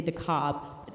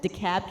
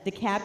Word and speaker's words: DeKalb: Well, if you heard it on the news, they don't often pronounce it right. They say DeKalb. DeKalb County had not come in, and I had people texting me from everywhere.